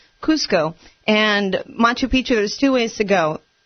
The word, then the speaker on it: Machu Picchu: It's the sacred ancient ruins of Machu Picchu.